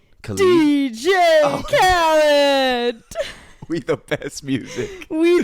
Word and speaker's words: Khaled: DJ Khaled. DJ Khaled.